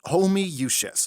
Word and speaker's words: Homoiousios: It's pronounced Homoiousios. How? There's 20 O's! It's Latin.